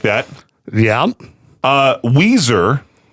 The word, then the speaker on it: Weiser: Uh Weiser Which is spelled like Wiser.